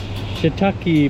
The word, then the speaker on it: shiitake: Okay, so the brother explained that we mispronounced this one. So that's actually shiitake mushroom steak, and this is harab.